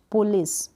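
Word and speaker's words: police: अब इसको हम बोलेंगे पुलिस, पुलिस बोलेंगे। आई का साउंड यहाँ पर जो है ना, यानी ई का साउंड, पुलिस, ई, थोड़ा हम लंबा इसका प्रोनाउंसिएशन देंगे।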